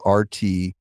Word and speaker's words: RTFKT: They acquire an NFT brand called RTFKT, but it's spelled R-T-F-K-T.